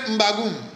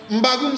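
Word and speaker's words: M'bagu'um: Bien-aimés, la signification de ces saints noms sont, lorsque vous prenez Mbagoum, vous pouvez mettre la signification dans les commentaires. Mbagoum s'écrit comme suit. M apostrophe B A G I apostrophe U M. Mbagoum veut dire Dieu.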